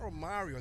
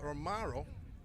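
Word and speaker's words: Romarro: That's Romaro Francis. Not Romario though, but Romaro.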